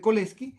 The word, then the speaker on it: Cholesky: descomposición de col este y se escribe como sol es que en español se dice la descomposición de col esquí y la descomposición de